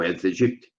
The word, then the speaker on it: Aedes aegypti: Esse vetor, na cidade, se chama Aedes aegypti, ou Aedes aegypti, como muitos pronunciam.